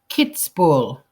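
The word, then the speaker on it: Kitzbühel: have a listen to this kids for Austria kids ball is how you pronounce that spoken by an Austrian so I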